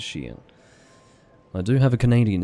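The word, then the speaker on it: chien: GN yes that's WR or is it shien Shen apparently the pronunciation is shien I do have a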